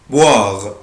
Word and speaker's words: boire: verbe boire، boire، boire يعني يشرب. عود نفسك الاو اي او الاو اي بالانجلش بنطقها وا، boire يعني يشرب.